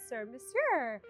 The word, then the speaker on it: Surmesur: It’s episode three and today we have Carly here from Surmesur Did I pronounce that right?